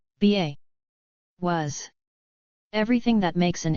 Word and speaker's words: ba: hieroglyphs B g53 in hieroglyphs the B egyptological pronunciation ba was everything that makes an individual unique similar